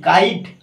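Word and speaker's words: kite: হবে না হুম যেমন কি কে আই টি কাইট আই আই উচ্চারণ হচ্ছে সেক্ষেত্রে দেখো কাইট ইউ ই এখানে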